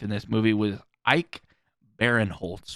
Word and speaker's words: Barinholtz: The other enjoyable comic relief in this movie was Ike Barinholtz, which I may be pronouncing his last Ike name wrong. Barinholtz, yeah, that's right.